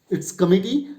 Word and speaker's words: committee: KUH, it's written in small, no need to give stress. Now MI, stress will be given on this. T, it's committee.